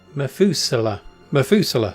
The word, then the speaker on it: Methuselah: Methuselah.